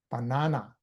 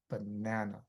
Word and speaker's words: banana: So when you whenever you say schwah you don't have to use effort at all. It's actually very easy. It's actually very lazy and it sounds natural. So if you say banana definitely is wrong. It's banana, right?